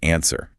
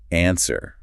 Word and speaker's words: answer: And the big counter example they gave is the word answer. Okay, let's hear it. The noun is answer. Stress on the first syllable.